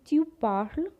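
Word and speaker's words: parles: to say you speak you will say tu parle same pronunciation as in i jo parle tu par la ve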